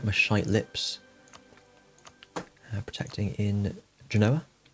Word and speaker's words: Genoa: shy lips protecting in genoa um actually it's pronounced ginoir then maybe dips there